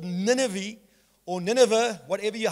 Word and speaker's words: Nineveh: It was written to a man who was called by God to go to a city called Nineveh, or Nineveh, whatever you, how you want to pronounce it.